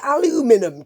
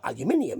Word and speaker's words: aluminium: They look a bit aluminium to me, or aluminium if you want to say it properly, as we do in the UK.